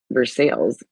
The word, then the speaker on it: Versailles: Um, Geneva, Versailles, the county seat of Ripley County, pronounced Versailles again. Like another, like wow, way to like. Anyways, rather than the French pronunciation, it has a historic feel.